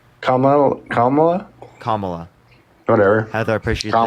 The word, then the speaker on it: Kamala: Camellia? Kamala? Kamala. Whatever. Heather, I appreciate the trash panda. Thank you. Kamala. Can you say it? Kamala. There you go.